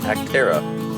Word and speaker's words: Acterra: anybody else was wondering like me this is pronounced actera learned that the other day so i'm